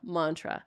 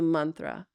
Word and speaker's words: mantra: mantra there you go Mantra so that a is actually short so it's man instead of man so manthra instead of Mantra okay there's just a